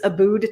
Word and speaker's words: Abboud: have a facebook group it's a booed time so it's about time but you spell it abood my last name a-b-b-o-u-d let's talk about it